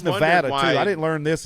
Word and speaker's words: Nevada: there I called it Nevada my whole life but it's Nevada is how the people that live there actually pronounce it's Nevada Nevada we